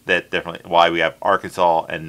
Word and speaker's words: Arkansas: And yes, they are pronounced differently because of the British and the French. It's It's odd. Technically, it's the British and the French pronounced that differently. Why we have Arkansas and not R.